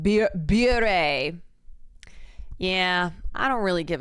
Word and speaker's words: Bure: Pronounced beer bare.